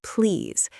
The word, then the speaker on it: please: The pronunciation is please. It's a long E sound in the middle. Right. Not place, not plays, but please.